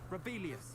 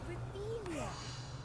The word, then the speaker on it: Revelio: Oh, if Black hadn't cancelled it, we wouldn't be looking for the blasted thing in the Rebellious. You're saying it wrong. Oh, Rebelia. Much better.